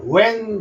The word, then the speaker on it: when: 자, 그 다음에 에 소리를 이으면은 언제, when 되죠. when. 요때 H는 소리가 안 났고 W만 소리 나는 겁니다.